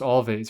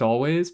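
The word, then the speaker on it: Alvvays: Actually, their name isn't actually pronounced all, right? It's just always, but it's two V's.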